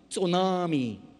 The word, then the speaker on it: tsunami: it starts with Adi but it you don't pronounce the teeth so mommy tsunami is that it the big wave that came